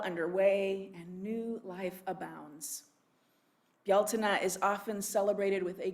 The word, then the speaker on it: Beltane: you you'll see it spelled uh our our pronunciation would be beltane but it's a gaelic word and it's pronounced bialtena also called may day it is the cross